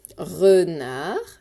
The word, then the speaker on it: renard: Renard, et pas renard, attention, avec le D muet.